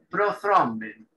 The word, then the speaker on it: prothrombin: En inglés es prothrombin. Prothrombin. Esa TH se pronuncia como una Z suave.